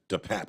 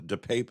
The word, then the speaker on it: DePape: DePape, because he actually pointed that out to the court this past day. How to pronounce his name, I believe.